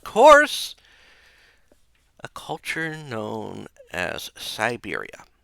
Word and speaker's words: Syberia: a culture known as Siberia. This is spelled with a Y not an I.